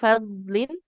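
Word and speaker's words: فضلٍ: Sama tadi Zu fadlin huruf dal itu bukan huruf qalqalah jadi nggak boleh dibacanya memantul. Fadlin, fadlin seperti itu.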